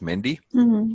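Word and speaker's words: mehndi: That's how they say it, Mendy.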